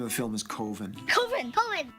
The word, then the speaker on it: Coven: The name of the film is Coven. Coven. Coven, that's the proper pronunciation. No. Coven sounds like oven, man, and that's just, it doesn't work.